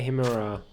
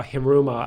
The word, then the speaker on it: Hiruma: Rai Himura. Oh, Hiruma. I said it wrong again.